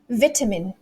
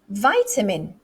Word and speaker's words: vitamin: oh no let's do the british way first vitamin vitamin but the americans vitamin vitamin they're both correct they're both correct okay